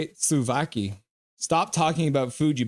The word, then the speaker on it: souvlaki: Slovaki. Stop talking about food, you big backs. I was saying Sulaki.